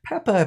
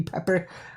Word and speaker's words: Pepper: the line four y Peppa puts in $420 pepper pardon me pepper I pronounced my P without an R pepper puts in $420 and